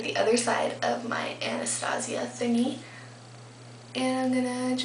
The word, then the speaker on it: Anastasia: I'm going to take Anastasia it looks like Anastasia but everybody pronounces it Anastasia this is the Brow